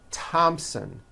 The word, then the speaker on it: Thompson: like to point out although these next words and names are spelled with a t H they are pronounced as if they were spelled with a normal T TT like that and